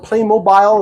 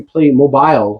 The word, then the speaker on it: Playmobil: bad boys, Playmobil or Playmobile, as some people pronounce it. I'm not sure the official pronunciation, but I mean, no E there, so it shouldn't be Playmobile. It should be Playmobil.